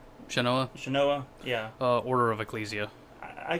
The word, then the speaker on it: Shanoa: Shanoa, yeah.